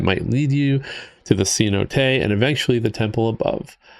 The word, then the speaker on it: cenote: Actually pronounced cenote.